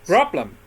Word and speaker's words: problem: For example, here you hear problem. Problem. How many syllables? 2. 2. Problem. Okay, and stress on the first, right?